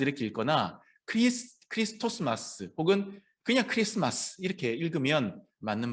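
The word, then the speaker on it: Xmas: 때도 이렇게 엑스마스 쓰고 엑스마스 이렇게 읽는데 이것도 사실은 크리스마스 할 때 요 X도 영어 X가 아니라 요겁니다. 요거 헬라어의 키 발음 크리스토스 그리스도를 얘기하는 거죠.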